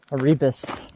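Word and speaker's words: Erebus: Aribbus, that's how you pronounce it.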